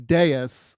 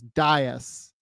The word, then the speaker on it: dais: So Americans say it as Deus, according to Stu. The other English folks like UK and Australia say it as Dias, which, you know, maybe you're going with that pronunciation.